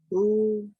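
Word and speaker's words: הוא: Who? How? Close. But when you see this combination right here, Uh-huh. it's sounded out together, because remember there's no food under that hay. Hood. Is it hood? Just who?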